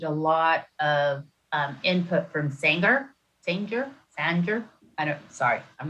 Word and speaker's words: Sanger: lot of input from Sanger. I'm not sure how to say it. Sanger. Sire? Sanger. You have to throw a bit of an Okie accent into it. Sanger.